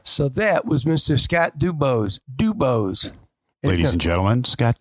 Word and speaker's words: DuBose: You got to say it the right way. DuBose.